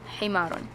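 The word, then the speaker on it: حِمَار: so it's not him so in arabic we have ha and ha the difference between the two is that ha is much more lighter and ha is much more heavier so ha ha ha ha ha ha all right i hope uh i hope you can tell the difference okay so it's a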